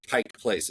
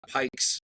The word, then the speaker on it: Pike Place: it is it's pronounced Pike Place it's not Pikes there's no apostrophe s Pike Place Pike Place